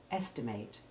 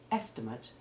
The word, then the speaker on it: estimate: e2 sound just as ate endings can be long a1 as in the verb estimate and short a2 as in the noun estimate when we look at